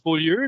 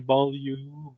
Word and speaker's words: Beaulieu: Yeah, c'est Tim, il dit, ben non, moi je le prononce Beaulieu, puis c'est ça, je le montre comme il faut à mes enfants, ça vient de mon grand-père, puis c'est important, parce que les autres façons sont pas correctes. Mais c'est ça, il y a des gens qui vont le prononcer Beaulieu, ou autre variation anglicisée du nom.